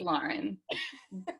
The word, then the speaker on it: Lauren: Um, and I say her name Lauren because I'm from Long Island, but how do you say your name, Lauren? Welcome. Thanks for It's Lauren. But you also say